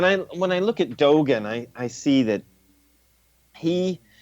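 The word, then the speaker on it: Dōgen: Dogen.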